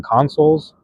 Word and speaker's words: Consoul: Wait, Cash Artist, have you ever listened to the Consoles? It's spelled Consoul. It's a band.